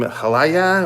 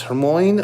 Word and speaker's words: Hermione: three kids, Ron, and I can never say her name, Halaya or Alaya. What's her character's name? Emma Watson, Hermione. Sorry, I'm not trying to disrespect the character. It's just a hard name for me to pronounce. Hermione.